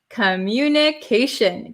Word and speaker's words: communication: What's the pronunciation of communication? Communication. So, commin. Shin. T I O N at the end of a word becomes shin. Shin. It sounds like an h i n.